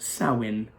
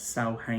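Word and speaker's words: Samhain: Halloween and our holiday and it's a team pronounced soin so I learned something new so yeah thanks to my friend Mandy I now know that it's called Sally and and not Sal hey nor ever I said I in the beginning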